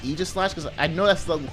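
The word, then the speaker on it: Aegislash: of doubling and Egypt ages slash please like Aegis slash because I know that's the correct pronunciation but ah but uh anyway so I'm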